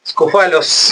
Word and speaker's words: Scoufalos: Estamos conversando con Tomás Viola y con Mara Scofalos, ¿lo pronuncié bien?